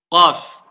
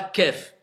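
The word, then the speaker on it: قاف: Qaf, c'est pas kef. Alors, faites attention à la prononciation. Ne dites pas des kef au lieu des qaf et des qaf au lieu des kef.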